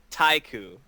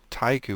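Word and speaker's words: TY KU: Not haiku. Oh, what is it? Taiku. Taiku. What the hell is that? It's TY-KU. It's a distillate of like sake vodka kind of thing.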